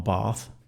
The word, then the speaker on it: Bath: uh he's been doing his uh masters down there at Bath University and he came up to see us for a a surprise weekend which was always nice.